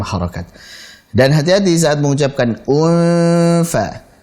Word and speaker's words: انفطرت: Dan hati-hati saat mengucapkan unfa. Unfa. Di situ ada hamzah dalam kondisi berharakat dhammah, kemudian setelahnya ada ikhfa hakiki, nun sukun ketemu dengan fa.